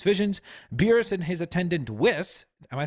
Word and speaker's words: Whis: him in his visions beerus and his attendant whis am I saying that correctly yeah or is a wiz with whis that's the way I would yeah